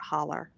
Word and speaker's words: holler: funny how it's it's looks like it's spelled Hollow but they call it holler yeah holler h-o-l-l-e-r as